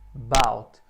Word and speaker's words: about: Por exemplo, na palavra about, tem duas sílabas, o about. E sempre que a sílaba tônica for a segunda, ali o ar ficar sozinho aqui, o ar é bem curtinho esse som, não é about, é about. Ele é só um about.